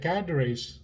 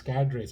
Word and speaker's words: cadres: these suicide when the cadres, it's often pronounced as cadres in both in Sri Lanka and India. I don't know why I checked. It's cadres. It's a French term, meaning you know what it means.